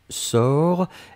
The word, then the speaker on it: sors: première personne du présent c'est je sors s o r s on ne prononce pas le s p on doit quand même l'écrire futur simple de l'indicatif